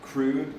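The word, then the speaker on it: Krud: for like weeks, and I like Crude, K-R-U-D. It looks like crud, but they pronounce it crude.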